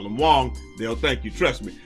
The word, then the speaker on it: Wang: is this is from the mouth of mike wong somebody tweet and that's how you say his